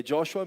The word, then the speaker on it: Joshua: É Joshua mesmo, viu? Tem gente que às vezes tem dificuldade de pronunciar. É Josué em português.